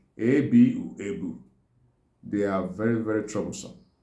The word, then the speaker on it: ebu: You see, in Igbo we call it ebu. A-B-U, ebu.